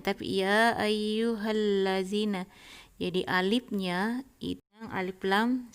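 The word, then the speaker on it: يَا أَيُّهَا الَّذِينَ: Jadi tidak mengatakan ya ayyuha allazina, ya ayyuhal lazina, tapi ya ayyuhal lazina.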